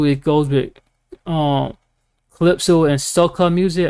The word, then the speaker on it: soca: And also it goes with calypso and soca music. I think that's pronounced like soca, SOCA.